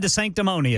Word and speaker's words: DeSanctimonious: Ron DeSanctimonious. Did I say it right? Yeah? Yep, okay. Ron DeSanctimonious.